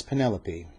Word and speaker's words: Penelope: loaf's legal name was Penelope which being pronounced as a tri syllable transformed Itself by further